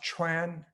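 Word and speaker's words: 川: In this case, it's pronounced chuan, and it means river current. So shun and chuan, they seem fairly separate.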